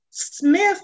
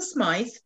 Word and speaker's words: Smythe: and it's written by teresa smith is the way we pronounce it here in the united states but the y becomes smythe in the old vernacular and when it was